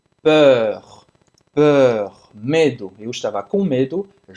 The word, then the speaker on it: peur: Para fazer esse som do E, faz a boca do O e fala E. Peur, peur, medo.